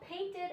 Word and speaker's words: painted: Yesterday, my grandma painted a flower. Painted, ed, painted, okay? All of these sound like a short E with a D sound, ed, ed, ed, okay?